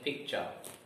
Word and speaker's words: picture: syllable and there are two syllables in picture P cha two syllables in